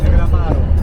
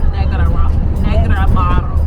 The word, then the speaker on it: Negroamaro: How do I pronounce? Is it Negroamaro wine? Negroamaro. Negroamaro.